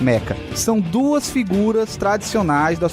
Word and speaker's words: meca: caranguejos e os metas alguns chamam de mechas mas eu consultei a pronúncia correta é a meca são duas figuras tradicionais